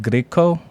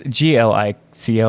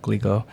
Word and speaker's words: Glico: of Japan's beloved candy company, I think it's pronounced Griko, which is like, I think they're the Pocky people. Yeah, he was kidnapped from his own home. It's Glico, I'm trying to say it correctly, Glico.